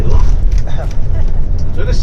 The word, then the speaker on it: Loch: That's how you say it properly, Loch.